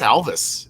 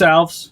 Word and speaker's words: Alves: i think i i think it's alvis isn't it is that am i saying it wrong i am so no it's alves is it alves okay yeah my fault